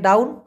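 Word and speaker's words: daun: কথাটি আগে ব্যবহার করে ডাউন ইংলিশের ডাউন না ভাই মালয়েশিয়ান ভাষায় ডাউন ডাউন ডি এ ইউ এন ডাউন ডাউন মানে মূলত কি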